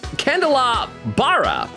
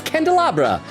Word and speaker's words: candelabra: flip phone que said wait that's how you pronounce candelabra for some reason I I kept reading it as K kandal laara yeah it's candelabra uh but I mean